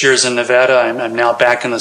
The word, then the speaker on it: Nevada: Left Hillsborough after 6 years to go to Western Nevada College in Carson City, Nevada. And yes, the locals pronounce it Nevada, not Nevada. I got so much grief for the first 6 months I was out there.